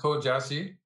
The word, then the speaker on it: Tuo Jiaxi: I'm going to let you pronounce our player's name today. I think I mangled it when I was... Okay, it's Tuo Jiaxi.